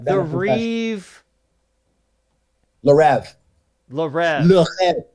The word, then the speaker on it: Le Rêve: Le Rêve. It's a French word. Say it correctly, please. Le Rêve.